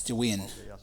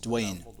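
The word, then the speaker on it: Dvin: At the time there was a city known as Dwin which should more accurately be pronounced and written as Dwayne.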